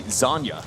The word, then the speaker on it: Zanya: translators to be able to understand the pronunciation here of the squad. And it's actually Zanya.